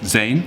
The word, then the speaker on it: zijn: In German, it's sein, and in Dutch, it kind of, you'd have no idea how to pronounce that unless you knew how to speak Dutch, but it's zijn.